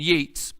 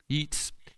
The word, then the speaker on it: Yeats: Interesting, there's one of my favorite poems written in 1919 by a guy named Yeats. I think I'm pronouncing his name right. Yeats.